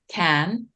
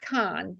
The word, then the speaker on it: Cannes: it's It's not tricky. Can and it's not Con. It's in between the two.